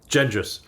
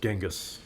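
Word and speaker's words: Genghis: ears cutting off heads gendis only the Philistines pronounce it genas Greg that's exactly correct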